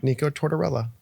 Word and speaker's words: Nico Tortorella: let's talk about it I always thought in my mind I was like Nik torella like I was just saying it I was like I'm for sure saying it wrong but it's not I'm saying it right the whole time Nik torella torella